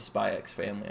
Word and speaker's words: Spy x Family: I'm sticking with SpyxFamily. I like pronouncing the X.